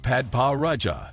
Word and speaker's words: Padparadscha: Padparadscha, pronounced Padpa Raja, sapphires are extremely rare and are found primarily in Sri Lanka as well as Tanzania and Madagascar.